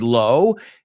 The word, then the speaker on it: low: looked at the word low and we know it's not pronounced like the word law just ask my mother-in-law